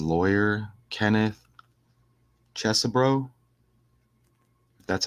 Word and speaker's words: Chesebro: fun but look how it says lawyer Kenneth Chesser brro that's how you say it pleads guilty over